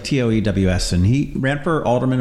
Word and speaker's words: Toews: Yeah, but it's spelled weird. We'll talk about that a little bit. It's like Toews.